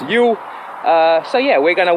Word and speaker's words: Ewell: completely wrong so yes it's not UL it's you uh so yeah we're